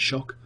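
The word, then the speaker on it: Xhock: This next one's called Shock, spelt with a X, X-H-O-C-K. So it looks kind of like Jock, but it's still said Shock.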